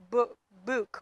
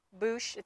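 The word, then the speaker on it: Buch: And I believe her last name is Book or Boosh. So it's from Cheryl Boosh. It looks like it's spelled B-U-C-H.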